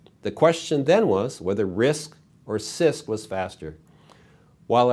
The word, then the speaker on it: RISC: reduced instruction set computers abbreviated risc and pronounce risk think of complex instruction